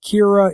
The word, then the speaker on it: Kira: the original anime that Kira is just the Japanese pronunciation of the English word killer because they don't have